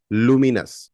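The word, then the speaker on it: luminous: लुमिनस लुम नस लुमिनस हम बोलते हैं लुमिनस इनवर्टर आपने सुना होगा लुमिनस बहुत फेमस ब्रांड है इंडिया में लुमिनस inverter that is नॉट लुमिनस that is लुमिनस लूम नस लुमिनस एमिटिंग और रिफ्लेक्टिंग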